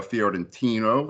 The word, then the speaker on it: Fiorentino: You also done, of course, these two records here that we're going to talk about with Umberto Fiorentino. I hope I'm pronouncing that right.